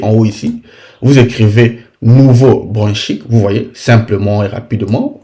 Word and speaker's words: Nouveau-Brunswick: Alors, il y a des gens qui me disent dans les commentaires, tu ne prononces pas bien Nouveau-Brunswick. C'est comme si c'était mon pays. Quand il s'agit de mon pays, je prononce ça bien.